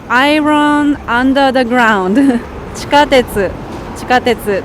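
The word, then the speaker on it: 地下鉄: そう、iron under the ground 地下鉄と読みます。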